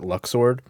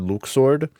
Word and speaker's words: Luxord: Can I just say, A, I always pronounced it Luxord. So when I played this game and they said Luxord, I was upset.